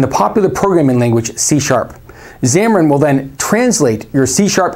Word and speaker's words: Xamarin: on over 98 of mobile devices this is pronounced xamarin xamarin is software from microsoft that is used